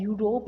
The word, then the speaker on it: Europe: Okay, ई जो है वो वॉवल्स में आता है, बट इसका प्रोनाउंसिएशन क्या है? यू है, EUROPE। इसका प्रोनाउंसिएशन क्या आ रहा है? यूरोप आ रहा है।